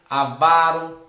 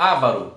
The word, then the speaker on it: avaro: Alcácer, ambrosia, assecla, austero, avaro. Geralmente eles colocam isso aqui, ó, ávaro. Coloca acento nessa palavra aqui, que estaria errado.